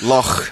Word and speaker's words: loch: Loch. Not yeah, loch, I'm trying to give it a little more of the Scottish pronunciation.